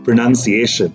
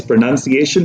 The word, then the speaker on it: pronunciation: little bit about correct pronunciation yes the word is pronunciation and not pronunciation even though the verb is to pronounce but the noun is pronun I iation now we often hear